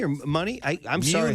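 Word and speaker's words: Munie: And Daniel, do I pronounce his name right? Is it Muni or Money? I'm sorry. Muni.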